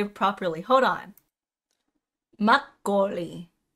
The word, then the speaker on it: makgeolli: Makgeolli. Makgeolli.